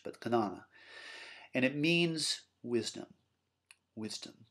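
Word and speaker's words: Jñana: Looks like Jnana if you pronounced it sort of phonetically in English, but Jnana.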